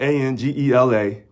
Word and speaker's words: Angela: His last name is spelled Angela.